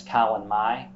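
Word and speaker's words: Calan Mai: Regional spellings as well uh in Welsh it's Colin Mai c-a-l-a-n -a-i which yeah means the first of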